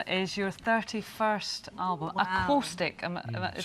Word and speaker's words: Aquostic: Aquostic. Is Say that again? right? Acoustic, my Scottish accent.